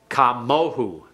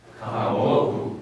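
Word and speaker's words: כָּמוֹהוּ: Notice that the O sound couldn't be put here. You couldn't say kamo-o. So instead of doing that, they use who, which is like we see it in the third masculine singular personal pronoun.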